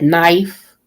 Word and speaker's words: knife: For you all who put a L in, the L is silent, like knife. Okay, like knife. The K is silent.